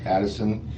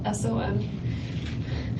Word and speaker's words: Adelson: I, Wendy Addison, and I got to change this. Adelson. I know I got to change that. It's okay. It's Adelson. Actually, it's spelled right. I said it wrong.